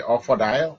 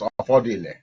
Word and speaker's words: Offodile: When you hear the Offadile, it's Offodile. So I want us to be getting the picture and the pronunciation from this machine correctly. It says Offadile, but anywhere that Offadile is repeated, please bear in mind that is Offodile.